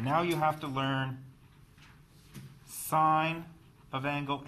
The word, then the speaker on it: sine: The proper name for this is sine, S-I-N-E. We shorten it to S-I-N. You do not pronounce this as sin. This is sine.